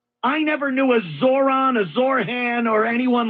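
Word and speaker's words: Zohran: It's Zoron.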